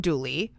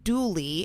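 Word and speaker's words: Dula: A man named Tom Douly, which was spelled D U L A but pronounced Douly in the local dialect, was born in Elkville, North Carolina in 1844.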